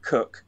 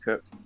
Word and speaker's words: Coke: There's the most go-to people are either Sir Matthew Hale, but Sir Edward Cook, spelt C-O-K-E, right, like the drink Coke, but it's pronounced Cook.